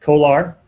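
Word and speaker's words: CO/ALR: have these things called kolar devices copper to aluminum retrofit uh c-o-a-l-r but they pronounce it colar c-o-a-l-r for uh copper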